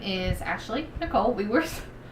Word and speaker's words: Wewers: name is Ashley Nicole we worse my last name is pronounced we worse it's spelled you can see it on the screen we we are s that's how I tell